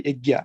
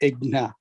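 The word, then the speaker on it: यज्ञ: Like Egna means we don't say Egya, we say Egna, G-N-A.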